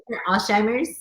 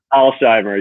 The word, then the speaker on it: Alsheimer: ellis how do you say your last name alzheimer's alzheimer's yes and she had been in your class